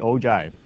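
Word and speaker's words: ogive: okay I've been going agiv give but it is actually o Jive is actually how it is pronounced you almost look at the G as a j almost and you know it's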